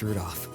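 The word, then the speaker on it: Rudolf: i know some anyway this guy's name is pronounced rudolph you must hate grandfather for giving him that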